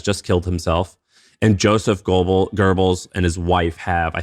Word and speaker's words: Goebbels: Goebbels is how you pronounce it.